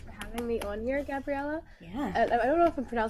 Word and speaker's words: Gabriela: Yeah, well, first of all, thank you so much for having me on here, Gabriela. Yeah. I don't know if I'm pronouncing your name.